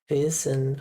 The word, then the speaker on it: wissen: Wissen.